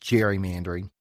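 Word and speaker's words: gerrymandering: spelled g r y all right and then Jerry mandering is associated with him and it's pronounced Jerry mandering just to make things confusing because that's the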